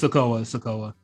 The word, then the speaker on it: Sikoa: We got Cameron Grimes and Soyo Sikoa in a title match, and Cameron Grimes wins. I thought this match was really good. Soyo Sikoa, sorry. Sikoa? Yes, it's Sikoa.